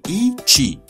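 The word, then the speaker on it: Yiqi: Se trata de I Chi, que se escribe Y-I-Q-I.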